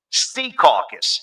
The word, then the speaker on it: Secaucus: born in Jersey, when he says Secaucus, he goes, Sea Caucus. He emphasizes the first syllable.